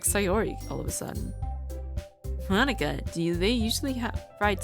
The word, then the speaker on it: Monika: said her name wrong cuz Monica not Monica yeah it's with a K hey sori I wave